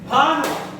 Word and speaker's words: ಭಾನು: ನೋಡಿ, ಇದಕ್ಕೆ ಒಕ್ಕಲಿಸಿ ಹೇಳ್ಬಿಟ್ರೆ ಭಾನು ಸೂರ್ಯ ಅಂತ ಹೋಗುತ್ತೆ. ಬರೀ ಬಾನು ಅಂದ್ರೆ ಆಕಾಶ, ಭಾನು ಅಂದ್ರೆ ಸೂರ್ಯ ಅಂತ ಆಗುತ್ತೆ. ನೀವು ಸರಿಯಾಗಿ ಉಚ್ಚಾರ ಮಾಡ್ಬೇಕು.